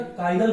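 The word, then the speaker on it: chiral: कायरल, कायरल, ये मैं लिख रहा हूं, ध्यान सुनिएगा, कायरल मॉलिक्यूल। ये कायरल मॉलिक्यूल क्या होता है?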